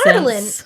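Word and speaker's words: Adarlan: Ardalan. It's Ardalan. Okay, Sure. Ardalan. Because that's how Elizabeth Evans says it.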